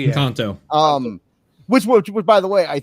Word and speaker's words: Encanto: He really doesn't have any interest in anything Disney since Enchanto. Is that how you pronounce that? Encanto, yeah. Encanto.